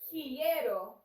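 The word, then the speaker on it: quiero: think mostly that's because we had three vowels in a row and that is uncommon so sometimes were unsure how to pronounce that so just repeat after me quieto quieto she it is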